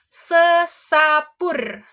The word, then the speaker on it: sesapur: Yang kedua yaitu sesapur. Apa tadi pengucapannya seperti gini. Sesapur.